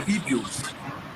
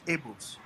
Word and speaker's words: Igbo: Then they were called the Igbos. Some called the Igbos. Some can pronounce it as the Abos, but they are one people, the Igbos.